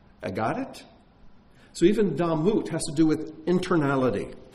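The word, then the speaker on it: דמות: So even damut has to do with internality. And you could even pronounce that word damot, which is the plural of blood, bloods.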